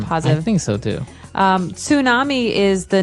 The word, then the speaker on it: tsunami: And because of all this activity, people say that they may have a tsunami. Well, this doesn't sound very English, does it?